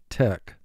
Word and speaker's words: tech: Tech. Mark the word. Tech. CH here is representing the K sound, so we double underline CH.